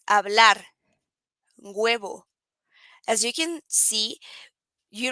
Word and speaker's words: hablar: then the h okay the h doesn't have a sound in spanish huh so in this case it's hablar as you can see